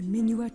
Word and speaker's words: Minuet: In order to come back here again, play the Minuet of Forest. Is that how it's pronounced? Yes. Yeah, Yes. it's minuet.